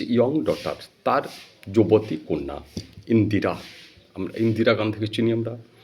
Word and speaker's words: ইন্দিরা: তার কন্যা ইন্দিরা গান্ধীকে ইন্দিরা বলবে উচ্চারণটা ইন্দিরা নয় মানে কিন্তু ভুল করে ফেলে ইন্দিরা বলে ফেলে ইন্দ্রা নয় ইন্দিরা ইন্দিরা ইন্দিরা কথার মানে আছে ইন্দিরা